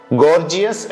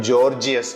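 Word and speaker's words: gorgeous: ഗൈജാൻ എന്ന ഇംഗ്ലീഷ് വാക്ക് ഞാൻ വായിച്ചിരുന്നത് ജൈജാന്റിക് എന്നായിരുന്നു ഗോർജിയസ് എന്നതിന് ജോർജിയസ് എന്ന് റെപ്പറ്റോ എന്ന വാക്ക് റെപ്പറ്റോയർ എന്നാണ് കുറെ കാലം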